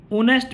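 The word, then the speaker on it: honest: है, इसमें नहीं है, तो ऑनेस्ट में एच साइलेंट है, तो आपका आंसर बी हो जाएगा।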